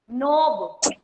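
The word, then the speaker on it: knob: Rani Kumari, नोब. Ma'am K is silent.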